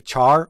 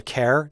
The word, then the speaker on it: char: want to discuss is a Char or a care depending on how you pronounce it we've talked mainly about